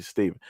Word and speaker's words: Stefan: So basically, instead of it's spelled Stefan, but it's actually Steven.